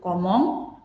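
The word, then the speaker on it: comment: Nah, sekarang kalau tadi kita untuk bagaimana berapa harganya, sekarang untuk bagaimana membayar, kita menggunakan kata bantu komong, komong, komong, komong. Komong, vous payez komong, komong vous payez, gitu ya.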